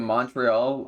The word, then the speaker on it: Montreal: for people who love pure experts they say Montreal but like Montreal have I been saying Montreal all wrong this this whole time supposed to pronounce it like that Montreal blue when you